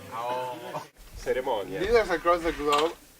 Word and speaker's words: ahorro: It's pronounced ahorro.